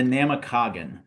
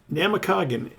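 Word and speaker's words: Namekagon: toorgle it out but how do you pronounce that other one it is the namakagan namakagan where does that Herald from what's it mean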